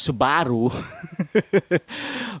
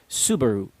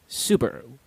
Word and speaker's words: Subaru: They pronounce it as Subaru. But you wanna get rid of the stress in the middle of the word, and you go simply as Subaru.